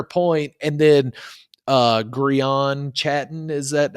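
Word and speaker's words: Chatten: And then, uh, Grian Chattton, is that how you say his name? Yeah, Chhatten.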